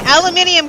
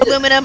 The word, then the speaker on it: aluminium: Well, historically speaking, aluminium came first, although aluminium and aluminum are both considered correct.